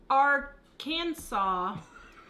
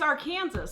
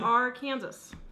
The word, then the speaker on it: Arkansas: Wrong pronunciation. Apparently that's... You know, that's like the whole rest of the world says Arkansas, but it's Arkansas.